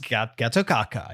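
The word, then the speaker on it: Gatotkaca: Pronounced Getokaka, yes.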